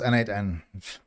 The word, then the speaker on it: n8n: It's pronounced n8n.